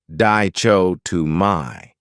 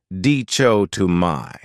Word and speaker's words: dichotomy: great noun is dichotomy this word has four syllables and the stress is on the second syllable Dao to my that third syllable has that schah sound dcho to my what it means is